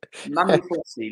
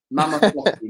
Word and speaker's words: Mama Flossie: Mammy Flossie, look. Mama Flossie, not Mammy.